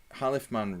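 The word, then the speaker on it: Khalifman: Halifman rhymes with on.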